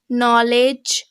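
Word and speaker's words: knowledge: And rule number 1, শব্দের শুরুতে KN যদি থাকে তবে তার উচ্চারণ হবে দন্ত ন, এক্ষেত্রে কে অনুচ্চারিত থাকে। For example, নলেজ, night and নি। তো এই তিনটি শব্দই KN দিয়ে শুরু হয়েছে, সুতরাং কে এখানে অনুচ্চারিত থাকবে, শুধুমাত্র অ্যান উচ্চারিত হবে,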